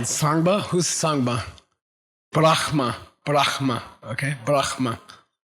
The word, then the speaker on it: Brahma: Brahma. Brahma. Okay? Brahma. Correct pronunciation. Brahma.